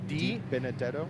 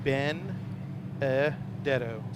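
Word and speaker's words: DiBenedetto: hard time pronouncing but it's d benedetto ben e detto benedetto benedetto it's a lot easier matt d he's standing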